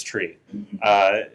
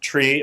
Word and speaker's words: trie: really uh deterministically pronounced it comes from the word retrieval so you would expect to pronounce it like tree but people often like to say try so that you can